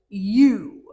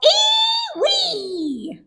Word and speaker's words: ewe: E-W-E. That spells you. Ha! You silly old thing. E-W-E spells ee-wee. See here, donkey. E-W-E spells you.